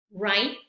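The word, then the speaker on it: write: observar una regla que cuando tenemos la letra W y esta seguida de una r entonces también esta W va a ser muda la vamos a ignorar la vamos a pretender que no está ahí está pero no se pronuncia y bueno También tenemos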